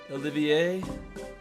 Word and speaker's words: Olivier: like his name is interpreted after with it Olivier however if you insist how about going